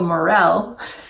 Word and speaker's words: morel: pointed out to me this is called a morel not a moral because it's not the